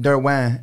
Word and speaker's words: Derouen: I ended up Derouen my last name because I just like, I'm just going with it. So I say Derouen, yeah. But Derouen is actually the French pronunciation.